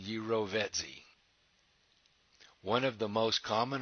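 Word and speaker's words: jirovecii: fungus new most cystitis pronounced and there's the pronunciation gyro vet z one of the most common opportunistic infections in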